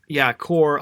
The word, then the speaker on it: cour: Yeah, core, COUR, that's pronounced core, at least I think it's pronounced that.